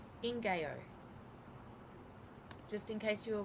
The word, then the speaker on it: ngaio: It's a Maori tree. It's pronounced Ingayo.